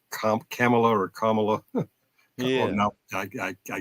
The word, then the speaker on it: Kamala: i' I've been saying camela or Kamala I I I get tongue tight it's comma like like the like the comma Mark and law comma law people pronounce my last